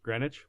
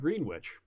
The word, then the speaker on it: Greenwich: Greenwich? It's spelled Greenwich. Yeah, but like sandwich, but it's Greenwich. Yeah, it's not Sandwich.